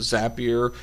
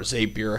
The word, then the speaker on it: Zapier: it out in terms of our apis with zapier uh or zapier however you like to pronounce it we had it right in July